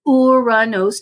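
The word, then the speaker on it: Uranus: loves to joke about that name but it's pronounced uranos named after the the Greek god of of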